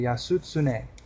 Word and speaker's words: Yasutsune: So in Japanese it would be Yasutsune. And then in the more Chinese pronunciation or Okinawan language pronunciation would be Uncle.